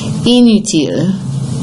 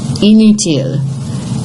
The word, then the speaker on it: inutile: Inutile. Inutile. Is that nasal? Inutile. It is not, because again, you have I-N-U, you have to imagine the I-N-U, you have two vowels.